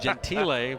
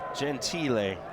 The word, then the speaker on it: Gentile: Now with Orlando on for the rest of the season, we were calling him Giuseppe Gentile. And his first name, he'd rather just go by Juicy. But Gentile, we've now learned, is the correct pronunciation.